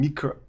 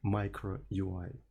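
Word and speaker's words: microui: So and my hypothesis that is they heard me pr pronouncing miker instead of micro UI and thought this is my actual pronunciation of the name of the library just for those specifically two people I do that intentionally I know how to correctly pronounce the word micro UI I do know that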